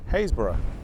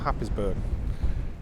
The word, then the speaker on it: Happisburgh: join me and Steve this morning at uh hayborough not Happ isburg um it's it's written down as Happ ber but is pronounced hbur is what I'm led to believe